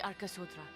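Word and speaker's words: Arkasodara: the Gajasura and the Arkasodra. Oh, so you pronounce it as Arkasodra. That A between D and R is silent entirely. Arkasodra.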